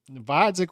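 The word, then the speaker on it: Gvozdyk: fight at 168 and we're saying vodic with a silent G and that guy retired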